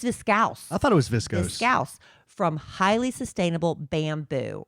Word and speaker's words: viscose: I thought it was discos. It's viscose.